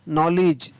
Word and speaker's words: knowledge: KNOWLEDGE, नॉलेज, क्या पढ़ेंगे इसको, नॉलेज।